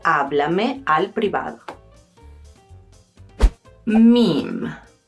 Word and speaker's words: meme: Meme: Pronunciamos meme en español, no en inglés.